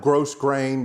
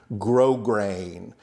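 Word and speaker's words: grosgrain: r a i n it looks like gross grain but it's pronounced grow grain and that means it's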